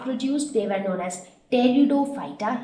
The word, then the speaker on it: pteridophyta: Seeds not produced, they were known as pteridophyta. Here P is silent.